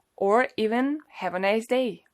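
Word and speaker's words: до: This phrase contains two words: DO which means until and it's pronounced as DA and the second one is SVIDANIYA and it means a meeting or a date.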